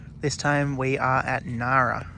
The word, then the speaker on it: Ngara: to pronounce it but it's pronounced Nara so g is silent all right this is